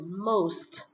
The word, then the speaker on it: most: ngày number n most most này là âm â các bạn phải đọc là âm â này most không được đọc mod nhé nhiều bạn đọc